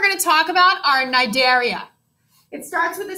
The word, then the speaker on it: Cnidaria: to talk about are nidaria it starts with a c okay but it's uh it pronounces nigeria the c silent because of english and it's stupid all right but it